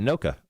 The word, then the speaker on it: Anoka: Anoka.